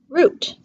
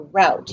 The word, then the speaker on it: route: summit and our last word is the word root not like a plant root or route you can also pronounce it around it is a path that